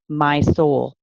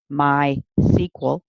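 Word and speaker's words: MySQL: are you familiar with my soul my soul pronounced either my so or my SQL is an open-source database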